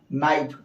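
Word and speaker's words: knight: आया है इस तरह एन के पहले देखिए क्या आया है के एन को नहीं हम लोग पढ़ेंगे इनका उच्चारण नहीं करेंगे तो क्या होगा नाइट इस तरह से यहां भी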